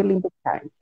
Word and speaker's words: Libeskind: o arquiteto é o Davi Libeskind, né? É assim que Isso. pronuncia? Davi Libeskind.